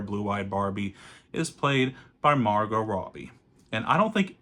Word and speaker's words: Margot: it but I guess I guess the t is silent I'm sorry but she is now played by Margot Robbie like the main